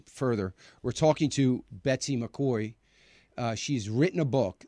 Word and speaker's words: McCaughey: Obamacare it's by Betsy McCoy now I'm going to spell her last name because it's spelled differently than it's pronounced it's m c c